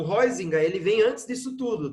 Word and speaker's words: Huizinga: Então, o Johan Huizinga, é assim que se pronuncia o nome dele, tá?